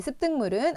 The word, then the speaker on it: 습득물: 되는 비음화까지 일어나게 됩니다 그다음에 습득물은 앞에 오는 비읍 영향을 받아서 뒤에 오는 디귿이 쌍 디귿으로 발음되는 된소리되기 현상 그리고 뒤에 오는 미음의 영향을 받아서 앞에 오는 기억이 이응으로 변화되는 비음화 현상이 일어나게 됩니다 그래서 자 이런 우리가